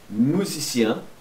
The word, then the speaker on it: musicien: Le musicien é um músico. Le musicien. Musicien. Aqui pronuncia até o final.